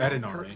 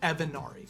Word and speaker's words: Evanari: Edinari. Edinari. So um just so we are clear they are it is pronounced Evanari but we have it has been Edinari but it is Evanari.